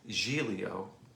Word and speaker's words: Giglio: to Joe's Facebook page his name is Julio it's spelled like Giglio because it's an Italian name did you know what's